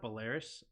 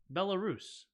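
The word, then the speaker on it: Belarus: it just hit me it's bellus not bis bellarus it just hit me right now that's how you say it bellarus I don't know why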